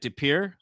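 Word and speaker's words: De Pere: Depir is the way to say it.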